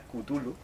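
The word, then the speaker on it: Cthulhu: cada uno pronuncia como la pronunciación correcta es kutulu pero bueno yo digo chulu pero vamos correcta porque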